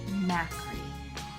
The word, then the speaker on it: Macri: So, Beth Macri. Not maker, but if it was maker, that would be pretty cool.